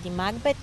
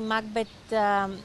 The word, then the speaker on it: Макбет: в образа на Леди Макбет, Макбет е истински правилния начин да се казва, но на български е прието Макбет, затова така и аз казвам Макбет, но по принцип ударението идва на Макбет.